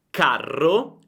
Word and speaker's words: carro: Carro, carro, caro, caro. Senti la differenza? La A è molto più breve nella parola con le doppie. Carro, carro, caro, caro.